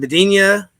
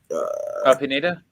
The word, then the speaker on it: Pineda: If you can say his name, the coach's name is it Bedenia? Pineda.